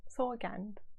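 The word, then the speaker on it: سوگند: 어떤 원래 그 이란식 발음으로 어때요? 서간드, 서칸? 서간드.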